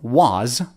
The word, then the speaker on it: was: pronounce it instead of was we've learned that they say w the word is not pronounced w w it's pronounced was we're using the short sound like cup and up uhuh relaxed uh uh